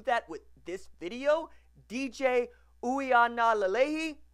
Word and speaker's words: Uiagalelei: we are not aleyhi that's a W at the beginning not a u sound and we go from